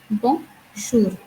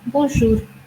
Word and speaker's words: bonjour: So I would say bon, which is a nasal sound, bonjour. So now we say bonjour, bonjour.